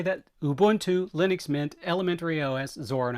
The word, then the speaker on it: Ubuntu: So again, Ubuntu, which for those of you who railed on me about mispronouncing it, that's for you.